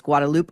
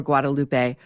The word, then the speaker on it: Guadalupe: um, Our Lady of Guadalupe, where I I understand you can pronounce it both ways, Guadaloop or Guadalupe, where um, legend has